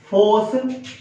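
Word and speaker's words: phos: फोस plus संथेसिस। Force plus synthesis. Force का pronunciation हम लोग FOS करके कर रहे थे और सिंथेसिस का प्रोनाउंसिएशन सिंथेसिस हम लोग कर रहे थे।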